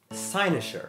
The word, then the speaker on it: cynosure: Sinisher pronounced like sa.